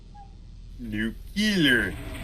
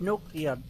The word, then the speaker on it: nuclear: a radiation Shield yeah new killer it's pronounced new killer it's pronounced nuclear nuclear nuclear domination silent I had to force myself to mispronounce it my body wanted to pronounce it right oh wow deleted scene